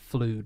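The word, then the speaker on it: FLUDD: Flood is the thing he used in Super Mario Oh, Sunshine. yeah. No, I don't know how you pronounce it. I pronounce it Flood. It's Flood.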